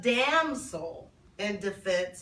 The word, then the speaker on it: Damsel in Defense: And I also have a damsel in defense.